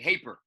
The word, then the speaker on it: Haper: Patrick Hoper. I'll let you speak on Patrick. See, that's wrong because you said the boy's last name wrong. It's Patrick Haper.